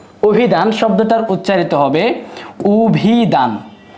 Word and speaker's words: অভিধান: উ হওয়ার পেছনে যে কারণটা সেটা হলো শব্দের শুরুতে আছে অ। অ এর পরে যদি রসই থাকে সেই আদ্য এর উচ্চারণটা উকার বা উ এর মত হয়ে থাকে।